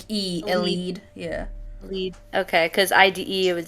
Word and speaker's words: Elide: Elide.